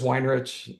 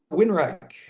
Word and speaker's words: Weinrich: So just Weinrich, and nobody could ever Mm, spell it or pronounce it. And okay. so, uh, and coming to the stage, Tyler Winrack, Weinrich. It was any way you could possibly not pronounce a very simple name.